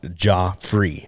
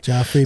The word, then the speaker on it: Jah Free: Joffrey. So it's spelled J-A-H. Like Jah. Yeah. You know, like Jehovah, Jah, God. Yeah. And then I put free because the Joffrey and free. It sounds like God free, but I took it